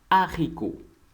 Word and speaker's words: haricot: And remember, mostly H in French is a silent vowel or silent letter. When it starts, it's become a silent letter. That's why we pronounce haricot, which means beans.